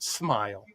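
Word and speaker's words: Smael: S M A L pronounced Smile.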